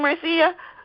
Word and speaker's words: Marcia: Can I call you Marcia? Can we be today? Sure. And, actually it's pronounced Marcia, even though it's spelled like Marcia, yeah. Oh, okay, so Marsha, like the Brady Bunch.